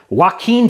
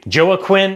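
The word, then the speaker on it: Joaquin: first off I think I deserve extra credit for correctly pronouncing Wen Phoenix's first name whenever I see that I always want to say Joe Quinn anyway the answer here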